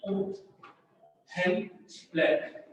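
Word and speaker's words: Uhlenbeck: गोल्डश्मिट एंड ऊहेन ब्लैक, ऊहेन ब्लैक होता है बेटा, ब्लैक एल साइलेंट रहता है, ऊहेन ब्लैक, ऊहेन ब्लैक।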